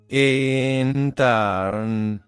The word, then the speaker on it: ENTARN: veces que necesites el Sagrado sonido entan se pronuncia entar percibe o siente como la esencia de este